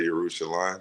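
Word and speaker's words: ירושלים: I went all the way to Jerusalem, as I like to say, Yerushalayim, because I like to do the pronunciations correctly.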